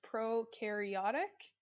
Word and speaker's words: prokaryotic: our prokaryotic cells so this word right here is pronounced prokaryotic and eukaryotic cells okay